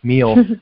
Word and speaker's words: Mele: product which is ingenious you called it meal but it's spelled m e l e you told me